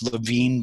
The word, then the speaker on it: Lewin: development was Kurt Lewin the correct German pronunciation is Lewin, but after he came to this country, Lewin one day said, "Tell them to refer to me as Lewin because they're confusing my